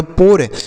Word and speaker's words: pour: P से हो गया प, O और U का उच्चारण OR से, इसे पढ़ेंगे पोर, मतलब क्या होता है?